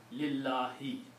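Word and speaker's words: لِلَّهِ: But when we put the lam before that, lam is a harf jar, so lam made it pronounced with a kasra here. So it became li, Allahu became lillahi. Okay? That's very important because that effect will ripple through that. Okay? So the pronunciation is lillahi.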